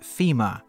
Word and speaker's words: Fimirs: Today on the HeroQuest Restoration Project, we are going to be painting some Fimirs, and yes, I pronounce it Fimirs.